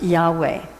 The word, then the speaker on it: Yahweh: He had found the name of God, which is in the Hebrew teachings, and was spelled in Hebrew YHVH, which is pronounced Yahweh.